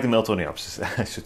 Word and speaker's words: Miltoniopsis: Like I said, Miltoniopsis they do like the Miltoniopsis, I should say it like that.